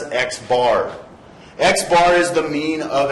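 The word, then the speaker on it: x̄: of measurements by xar so this x with a line over the top of it we pronounce as xbar xar is the mean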